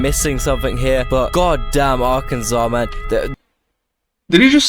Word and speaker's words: Arkansas: Wow, great description of Arkansas.